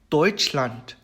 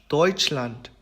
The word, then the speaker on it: Deutschland: 이렇게 두 모음이 붙어 있을 경우에는 이제 발음을 오이라고 얘기를 하죠. 그래서 예시를 살펴보면 Deutschland, Deutschland, Bäume, Bäume 이렇게 됩니다.